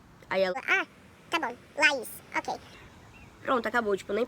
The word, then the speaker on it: Laís: Aí eu peguei e falei, Laís. Aí ela, tá bom, Laís, ok.